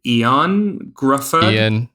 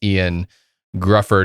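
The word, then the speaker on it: Ioan Gruffudd: to pronounce his name is it eon gruffalo it's the weirdest it's the most celtics well spelling of it but it's ian grufford who talking about fantastic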